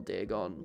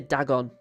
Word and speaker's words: Dagon: The one thing that annoys me most about Dagon is how it's usually Americans pronounce his name. And they always say Dagon. Because that's how they say it in the dub. But, like, Dagon as a character is just a huge HP Lovecraft reference.